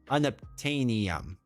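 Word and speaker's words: Unobtanium: Fictional element rhymes with uranium. Unoptanium.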